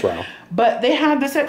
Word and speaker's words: Rao's: It's Rao.